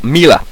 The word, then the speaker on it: Milla: a while since I've use i forgot the pronunciations of some of these characters anyway Milla Maxwell Mila it is Mila if he goes around with